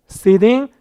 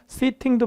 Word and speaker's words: sitting: woman, sitting, bench입니다. 아까 했었던 거죠. 이게 모음사의 t는 굴린다. 그래서 미국식으로 발음할 땐 sitting도 맞지만 sitting 이렇게 발음할 수도 있기 때문에 괜찮아 보입니다.